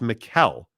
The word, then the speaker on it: Mikel: yeah uh Mike Chase I'm always correcting people on saying my name it's Mikel but so I could just